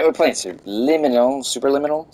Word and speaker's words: Superliminal: we're playing soon lemon super liminal super liminal right i always say it wrong subliminal because it is subliminal but it's super limitless it's not a real word so you know just